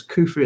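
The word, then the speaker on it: Khufu: means K protect me while modern egyptological pronunciation rers his name as kufu at the time of his re was probably as kaf if I'm saying that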